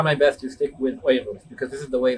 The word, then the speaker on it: Uyghurs: They are known as the Uyghurs, or the Uyghurs is how it's properly pronounced. And I'll use both of them, but I will try my best to stick with Uyghurs because this is the